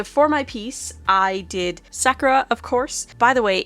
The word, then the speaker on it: Sakura: from the English dub where they say Sakura. They're putting the emphasis on the wrong syllable. I know it's Sakura, but it's hard to break that habit.